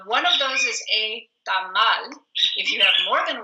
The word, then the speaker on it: tamal: A always is the A sound in Spanish. We don't have 7 different pronunciations for that letter. So anytime you see an A in a word in Spanish, you're always going to say A like in spot. So it's tamal, and it's only one